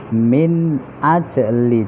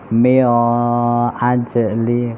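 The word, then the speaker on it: من أجل: Min ajli, nun sukun bertemu hamzah, izhar atau jelas. Pembacanya min ajli, tidak boleh mio ajli karena huruf izhar, alif ha kha ain ghain ha.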